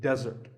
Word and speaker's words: desert: should not be confused with desert here the stress is on the first syllable which is de desert now i said